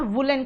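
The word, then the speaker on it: woollen: कुछ लोग उलन कहते हैं, कुछ लोग उडन कहते हैं। उसको आप वुडन और वुलन कहोगे क्योंकि आप अमेरिकन नहीं, आप ब्रिटिश हो, मतलब ब्रिटिश से सीखे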